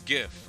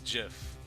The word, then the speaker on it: GIF: It's Jif Peanut Butter? No, it's GIF. I'm not pronouncing that word as Jif.